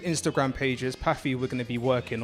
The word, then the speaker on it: Paphy: Paffy we're going to be working on. We are Paffy. That's spelled Paphy.